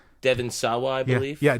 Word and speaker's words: Sawa: Devon Sawa, I believe. Yeah, Devon Sawa. You see, most notably of Final Destination. Yes. Right. Right. Right. uh you see Devon Sawa and and they you know he is Casper.